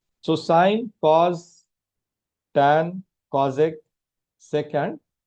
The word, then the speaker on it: sine: So the trigonometric functions which we will use today are sine. In short, it is written as sine. How do you pronounce it? Please pronounce it as sine, okay?